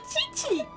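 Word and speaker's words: Qiqi: And then Chichi. I can have a full team of chibis. I've only ever heard chi. Even in English, Q still makes the chi sound in certain English cases.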